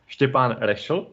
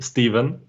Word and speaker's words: Stefan: okay hi everyone uh if i would say it in my original language uh the name is pronounced stephan but easily you can call me stephen okay that would have